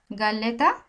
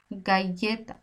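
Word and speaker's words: galleta: গাইতা আমি পড়ছি গাইতা আমি তো পড়লে গালেতা পড়তে পারতাম গালেতা কিন্তু এটা অন্তেস্থিয়ার মতো একটু উচ্চারণ হয়েছে একটু জোর দিয়ে গাইয়েতা গাইয়েতা এই কে ডাবল এর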